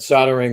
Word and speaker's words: soldering: Why is there an L in soldering? That is a very good question. He's just going to drop the L and spell it soldering without the L.